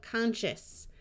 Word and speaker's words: conscious: This S goes silent before the shus, so conscious.